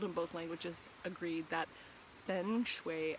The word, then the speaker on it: feng shui: both languages agreed that feng shui and fung soy are the proper pronunciations and i just wanted